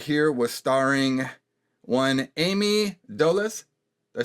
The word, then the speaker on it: Dolenz: This one right here was starring one Ami Dolenz. Did I say it right? Dolenz.